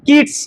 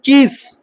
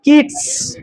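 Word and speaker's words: Keats: অন্যতম জনপ্রিয় কবি হচ্ছে John কিডস নট কিস John কিডস উচ্চারণটা ক্লিয়ার করছি জন কিডস এনার লেখার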